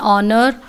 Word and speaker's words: honor: exception case here is when a consonant h is silent uh we use an so i told you earlier anar and honor and the is used